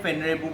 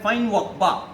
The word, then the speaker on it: Feinwerkbau: देखिए जो फेनरेबू ये जो है, हम लोग इसको हमारा भारतीय उच्चारण में हम लोग इसको प्रोनाउंसिएशन में फेनरेबू बोलते हैं, बट इसको जर्मनी में इसको बोलते हैं फाइनवॉकबा।